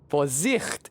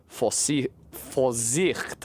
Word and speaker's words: Vorsicht: Great example here, Vorsicht. I did it again. The V is a F, the S is a Z.